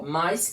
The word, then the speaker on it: mais: Pessoal, na pronúncia, essas palavras têm a mesma sonoridade, parecidas, são muito próximas à sua sonoridade, à sua pronúncia. Ó, mais e mas. Tá vendo que o i ele fica quase que sem som.